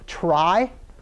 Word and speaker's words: trie: So we're going to talk about this type of tree, which has the unfortunate name of trie, right? Even though it looks like it should be pronounced tree.